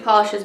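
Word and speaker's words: Pahlish: but I have a review from the brand Polish. It's spelled P-A-H-L-I-S-H.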